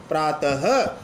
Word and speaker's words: प्रातः: से उच्चारण होता है अब विसर्ग सहित रूप को आप प्राप्त नहीं बोलोगे प्रातः यानी विसर्ग का उच्चारण प्रथम रूप से होता है यह हिंदी में